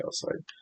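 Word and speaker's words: calcite: It is called calsite. I might be saying it wrong but pronouncing it wrong. But it's spelled calsite. So, I'm going to call it cowside.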